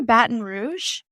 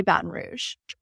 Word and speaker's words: Baton Rouge: I say Baton Rouge, but I really have heard it in multiple ways. But I'd say it locally, people will say Baton Rouge.